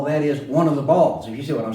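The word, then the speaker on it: Baal: you should know about b a a ball or Bale often pronounce here but with ball one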